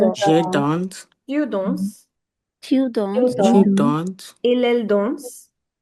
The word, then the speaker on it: danse: A lot of people pronounce il, elle as dansons. Okay, it's not dansons. You stop till the vowel.